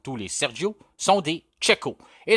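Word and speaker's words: Checo: les Sergio sont des cheeko et la prononciation est bien comme vous l'avez écrit cheeko et non Chico comme on peut parfois entendre la deuxième question nous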